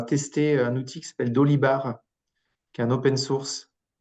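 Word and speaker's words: Dolibarr: Dolibar comme ça se prononce.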